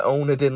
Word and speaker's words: Onedin: The Onedin line, that's how you say it. Honestly, I said the Wandin line before.